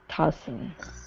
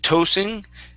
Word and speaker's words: tossing: the word um tossing tossing yeah so instead of toasting okay um michael's head